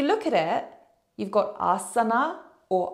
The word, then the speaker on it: asana: got it written AR a lot of people including myself will drop that a as so when you look at it you've got Asana or Asen it's very different from assana and it really is